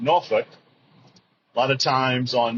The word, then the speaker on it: Norfolk: more recently now you noticed when I said noruk it's actually Norfolk Virginia if you're from Virginia it's pronounced noruk a lot of times on movies and TV shows they'll say Norfolk which is absolutely incorrect if you're from the